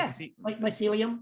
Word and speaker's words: mycelium: sealy mycelium how do you say that my mycelium yeah mycelium yeah uh you know i've got